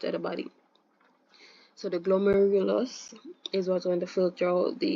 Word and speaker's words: glomerulus: With this bad pronunciation, but glomerulus, right?